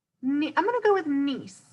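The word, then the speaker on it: gneiss: going to go with nce I think that G right here is silent it's an interesting word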